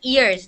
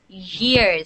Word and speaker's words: years: show you all right a lot of students say it like after three years okay they say it like ears like the word ears but it's years so your teeth have to be touching okay after three years